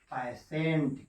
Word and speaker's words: patient: हमारे होते हैं यार टी के बाद आई आने पर भी उसको सा पढ़ते हैं, जैसे PATIENT। क्या पढ़ेंगे इसको हम लोग? कहते हैं कि पैसेंट।